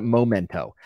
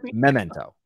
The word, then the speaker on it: Memento: think it's Memento and I called it momento I thought it was momento for 20 years and it's Memento yes yeah it's Memento